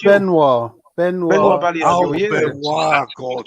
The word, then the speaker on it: Benoit Badiashile: It's Benoit Badiashile.